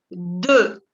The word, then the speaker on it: deux: Dos, se dice deux. Deux. No se pronuncia la X, ¿ok?